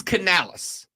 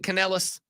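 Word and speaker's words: Canales: Rob is it Canalis or Canalis it is Canalis c a n a l es I have heard a lot of people pronounce it caneles I will also acknowledge that if I'm talking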